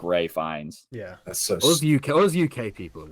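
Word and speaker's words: Ralph Fiennes: it's not pronounced right it's spelled Ralph but pronounced like I thought it was like it's pronounced like Ray fines yeah all those UK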